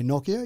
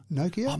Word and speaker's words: Nokia: have different pronunciations so i would say nokia you say nokia maybe i'm just too